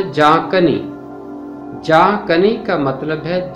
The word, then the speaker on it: جاں کنی: ہے بکھیرنا یا چھڑکنا۔ اس لفظ کا تلفظ ہے جاں کنی۔ جاں کنی کا مطلب